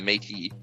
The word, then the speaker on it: Métis: Yeah, the Métis. That's how you Oh, pronounce the it, by the way. Métis.